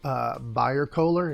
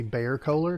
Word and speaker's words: Bayer-Kohler: Mark Bayer-Kohler. It might be Bayer-Kohler because it's spelled like the aspirin, B-A-Y-E-R.